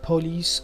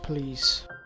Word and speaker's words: police: countries of the world, such as police or police, which is the wrong pronunciation of this word. This again is of Latin origin, and the correct pronunciation of this word is police.